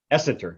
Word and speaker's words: Essenter: so what is it right what is correct pronunciation essenter essenter so yeah essenter yes thank you so